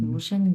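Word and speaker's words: 独生女: 上，তু, 嗯 হ্যাঁ তুশেংনু, তুশেংনি, 嗯，তুশেংনি, 独 হ্যাঁ আমি আবার নু উচ্চারণ করছি, নিউ না, এটা হচ্ছে নি, তুশেংনি। এটা কিন্তু ফুল উচ্চারণ হবে 3 নম্বর টোন, এটাও ফুল 3 নম্বর 嗯 টোন উচ্চারণ হবে।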